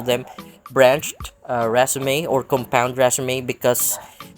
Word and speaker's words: raceme: I guess you can call them branched raceme or compound raceme because it's not just one single stalk of raceme or raceme.